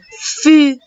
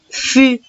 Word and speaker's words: fût: Le troisième mot, la troisième ligne ici, un fût, très bien. Et ici, c'est très facile. La lettre T, je ne la prononce pas. À la fin, elle est muette. Je dis un fût et je n'oublie pas